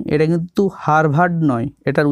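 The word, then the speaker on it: Harvard: He received PhD from হার্ভার্ড university in 1988, তিনি হার্ভার্ড বিশ্ববিদ্যালয় থেকে পিএইচডি ডিগ্রি পান 1988 সালে। দেখো রিসিভড কথার অর্থ হল পান বা পেয়েছিলেন, মনে রাখবে এইচ এ আর ভি এ আর ডি, এটা কিন্তু হার্ভার্ড নয়, এটার উচ্চারণ হবে হার্ভার্ড।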